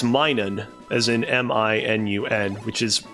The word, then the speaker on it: Minun: by the way, I've been saying his name wrong. For whatever reason, I've always thought it's Minum, like M-I-N-U-M, because I